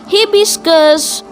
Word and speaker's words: hibiscus: तो ये है हिबिस्कस। हिबिस्कस, इसकी स्पेलिंग देखिए तो HIBIS, हिबिस, CUS, CUS, कस। तो हिबिस्कस, HIBISCUS, हिबिस्कस। तो ये था हिबिस्कस फ्लावर।